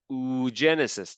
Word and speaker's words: oogenesis: In female, it's called oogenesis. That's how you pronounce it.